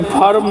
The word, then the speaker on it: firm: अब आई का उच्चारण आ होता है जहाँ एफ आई आर एम फर्म यानी संस्था, एफ आर आई एस फर्स्ट यानी प्रथम।